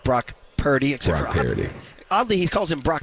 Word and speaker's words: Purdy: We had played last segment the part where he said, we need to stop with the narrative that I don't like Brock Purdy.